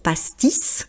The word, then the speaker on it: pastis: Donc ici c'est une exception, on prononce le S pour pastice.